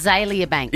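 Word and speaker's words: Azealia Banks: aelia Banks is that how you say it aelia Banks yes she is a rapper Swan I know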